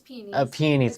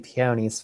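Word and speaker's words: peonies: It's peies. Now I'm saying it. I was saying peonyies first.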